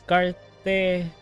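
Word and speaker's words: Cartethyia: The JP dub pronunciation is Cartesia. Cartesia? Cartesia? I think it should be Cartetia. You know what? I'm just gonna freaking pronounce this as Cartetia. I'm gonna pronounce this as how I read it.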